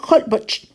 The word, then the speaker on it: Holbox: La H suena como J. Holbox se pronuncia Holbox.